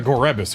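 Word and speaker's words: Gorebyss: Also, the reason I pronounce it Gorebis is I'm pretty sure Pokédex 3D Pro did that. And I remember it, like, it annoyed the hell out of me. Because, like, who would pronounce it Gorebis? Who would enunciate the E, but they did it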